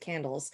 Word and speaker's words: CANDLES: If you look the acronym, we pronounce it CANDLES, at Georgetown University in Washington, D.C.